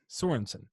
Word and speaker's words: Sorenson: but we have a guest with us, Sorenson. Am I pronouncing that correct, brother? Sorensen.